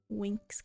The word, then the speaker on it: Winx: Winx Club. I mean, that's how it's pronounced. It's just not how it's spelled. It's, if you're not familiar with it, it is a Twinks Club. Oh! That would be a pretty solid show too. But no, Winx Club was a, it's spelled with an X, by the way.